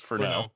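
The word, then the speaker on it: Furneaux: Noir for now Lodge it's it's that like Cajun type spelling it's f-u-r-n-e-a-u-x that's usually pronounced oh no so it's for now so yeah I would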